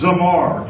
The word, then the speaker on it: zamar: but let's keep going the next one is zamar z m a r and is pronounced zamar it means to touch